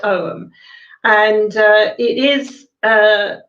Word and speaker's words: Ogham: pronunciation is is perfect om it's spelt o g h a m but it's actually um a silent g so it's actually pronounced om and uh it is